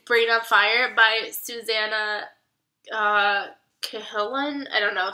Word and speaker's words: Cahalan: on Fire by Susanna Cahalan. I don't know. She like says how people always call her Callahan, and that's not right.